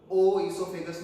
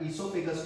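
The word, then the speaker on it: oesophagus: सर ये जो ओ लिखा है स्पेलिंग के अंदर, ये साइलेंट है क्या? करेक्ट बेटा। अब जनरली कुछ लोग यहां से ओ हटा देते, डायरेक्ट ई से स्पेलिंग शुरू करते हैं, नहीं तो कुछ लोग क्या करते हैं, ओ ईसोफेगस है, तो ओ ईसोफेगस नहीं बोलना, इट इज ओनली ईसोफेगस।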